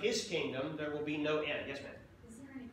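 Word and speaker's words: Noe: noah in the new testament is sometimes spelled n o e and and we would pronounce it no e it's referring to noah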